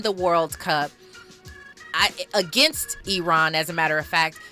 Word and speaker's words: Iran: he said number one you are uh pronouncing our country wrong it's Iran and it's not Iran uh let's get that